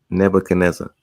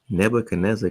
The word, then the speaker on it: Nebuchadnezzar: I'm like, where they getting Nebuchadnezzar? Cuz it's a D in the name. And nobody that that that I spoke to from that point to when I figured this out and they never pronounced the D. I'm like, nobody is pronounced. That's what that's what my friend said. I'm like, no, they just not saying it.